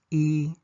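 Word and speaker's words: いい: first is the adjective for good which is e or yo E yo note that there's only one coni spelling for both these pronunciations however the negative conjugation of both e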